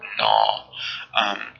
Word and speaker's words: gnaw: Now this one, the G in this one is silent, sort of like the way a G is silent in the word gnaw, Gnaw.